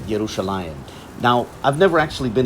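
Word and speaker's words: ירושלים: Under the influence of modern Israeli Hebrew, I'd pronounce that Metibta Tifereth Yerushalayim.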